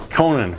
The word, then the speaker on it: Conan: Sir Arthur Conan, how do you say it? Conan.